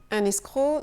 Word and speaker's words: escroc: Le C est silencieux, un escroc.